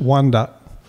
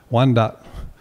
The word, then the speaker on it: Wyandot: We don't know where that extra Y came from, because in our language, it's just Wyandot. Wyandot. That's the word for our people.